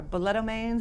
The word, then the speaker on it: balletomanes: And this is for those who are balletomanes, is that the right way to say it?